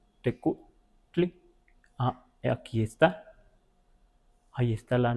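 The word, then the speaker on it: tecuhtli: Lo de tecutli o teco, un poco más abierta la u, tecutli.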